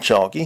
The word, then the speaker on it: Chalky: "What do you think, Chalky?" he asked his sphere. He pronounced the sphere's name in the academic manner. That is to say, he actually pronounced the letter L.